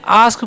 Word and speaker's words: ask: आस्क पढ़ते हैं। क्या पढ़ते हैं? आस्क। अस्क नहीं पढ़ना है, ठीक है। तो एक का उच्चारण यहाँ पर आ होता है, इसलिए हम क्या पढ़ेंगे? आस्क, ठीक है।